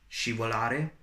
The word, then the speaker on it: scivolare: So when you have S followed by C and I, it is pronounced as sh. And also when you have S followed by C and E. So we have scivolare, which means to ski,